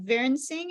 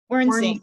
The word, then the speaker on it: Wernsing: That would be the German pronunciation, but we don't say it that way here in the US. We Okay, say how do you say it? Wernsing. Wernsing. Yeah, Wernsing. just like it looks.